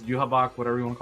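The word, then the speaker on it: Yhwach: you know yaha cuz that's how they pronounce in the anime is yabok whatever you want to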